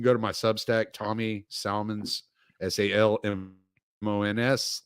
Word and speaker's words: Salmons: to my Substack, Tommy Salmons, SALMONS, like salmons, the fish, a school of them. But I'm from the South, so we pronounce the L, you fucking Yankees.